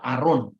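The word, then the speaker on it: Aaron: Nah, kata Haron adalah nama dalam bentuk maskulin Ibrani yang biasanya karena dieja dalam bahasa Yunani maka huruf H-nya itu enggak diucapkan. A Haron menjadi ee apa? Aron ya. Hanya tidak dibaca.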